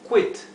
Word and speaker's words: quit: que vean que la la q con la u se pronuncia q o quit aquí no se lee como en español que en español se leería kit verdad se emitiría el sonido de la u en inglés la u se pronuncia sería quit siempre que tengamos